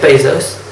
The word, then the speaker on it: Bezos: That's why in 2014, the International Trade Union Confederation, or ITUC, voted Jeff Bezos, that's how you pronounce it, as the worst boss ever.